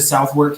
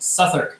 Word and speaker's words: Southwark: wrong south work awkward yeah we went to southward Cathedral but never heard anyone safe that's what